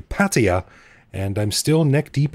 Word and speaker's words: Pattaya: on a mission to stop people from pronouncing it pattaya and tell them that it's actually patea and i'm still neck